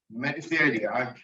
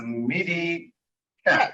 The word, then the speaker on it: mediCAD: thank you for the medicine i usually call uh medicine because maybe it's uh it's correct uh pronunciation is a midi cat right yeah yeah so